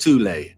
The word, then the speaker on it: Thule: Prior to the rise of the Nazi regime, there existed an occult secret society within Germany called the Thule Society, sometimes alternatively pronounced Thule, that had sub-factions within it.